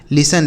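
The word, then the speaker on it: listen: लिसन। देखिए यहां टी जो लिखा है ना यह साइलेंट है।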